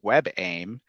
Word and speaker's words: WebAIM: um it is more a screen reader is more likely to read that correctly as web aim and pronounce it how